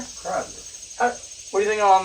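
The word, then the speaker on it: Kreidler: Cradler. Credler. Credler.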